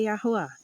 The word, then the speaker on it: Yahuwah: A pronúncia em hebraico antigo é Yahuwah, tá? Então, Vaiomer Yahuwah Lenor Bor Atah Verkali Beiterka El Hateva Ki Oterka Raiti Tezadik Lefanai Bador Hazé.